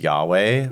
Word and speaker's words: Yahweh: Uh which we would now pronounce Yahweh.